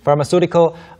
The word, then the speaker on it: pharmaceutical: Pharma, 뭐 CEUtical 아니고요. Suitical. Yes, it's just suitical. Su. 네, pharmaceutical. 마치 SU인 것처럼 생각하시면 yeah. 됩니다. pharmaceutical, 약학의, 제약의, 그 다음에 나오는 게 pharmaceutical drugs여서 이제 그냥 약이고요, 의약품.